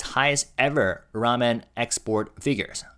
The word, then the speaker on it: 라면: 오뚜기, the company, recorded its highest ever ramen export figures. Ramen, that's how we pronounce in Korean.